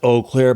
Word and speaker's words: Eau Claire: post office she goes It's pronounced o Clair but these people say o Clair so I thought